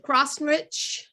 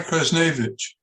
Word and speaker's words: Krasnevich: Donna, is it Crossrich, Jack? Is that how you say her last name? I want to make sure I say it correctly. Donna Krasnevich.